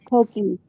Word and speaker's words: Coqui: Dana, am I saying that right? That it's Koki.